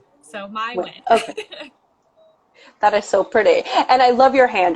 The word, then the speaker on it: Nguyen: because it's phonetic as phonetically close to how it's pronounced in vietnamese which is pronounced win so easier without the accent i just say win so my win that is so pretty